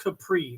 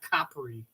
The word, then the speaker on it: Capri: know was really okay it's pronounced Capri not Capri yeah that's Ricky Martin